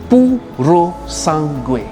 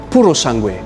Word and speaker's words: Purosangue: Now, before we get into details about the Purosangue, let me teach you how to pronounce its name properly. Repeat after me. Purosangue. Purosangue.